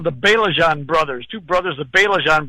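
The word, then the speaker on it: Baillargeon: Real names, Belajan. Okay. They were Canadians, French Canadians. And if you look at Belajan, you'd never pronounce it the way it looks.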